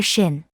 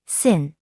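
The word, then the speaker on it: שׁ: that often gets overlooked this letter is shin which can also be pronounced as Sin is one pronunciation more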